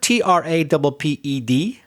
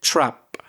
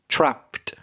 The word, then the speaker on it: trapped: The word TRAPPED, which is a past simple or past participle, you said trap, but you didn't put the extra t for the ed. It should be trapped.